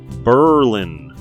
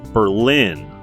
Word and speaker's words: Berlin: road foreign that's right Berlin not Berlin like Germany residents started pronouncing it this way due to anti-german sentiment during the first world war at about 10 000